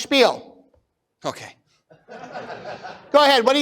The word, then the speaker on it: Spiel: It's pronounced Spiel.